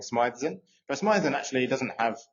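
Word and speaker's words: Smythe: So, I'm saying Smithe, but Smithean actually doesn't have an E between the H and and the S.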